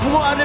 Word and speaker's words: 붕어 알: 저 자식의 발음을 빨리 발음해서 좀 이상하게 들리겠지만 천천히 또박또박 붕어 알을 발음하면 이상하지 않아요. 붕어 알 이상하지 않잖아요.